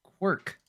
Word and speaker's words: Quark: The game I was referencing, Scott, that you knew is Quark.